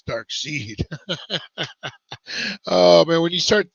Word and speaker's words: Darkseid: saw it I'm like that's not dark side that's Darkseid uh man when you